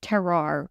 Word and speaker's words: terroir: it gives you a sense of place, a terroir with food. I always pronounce that word wrong, but No, you got it.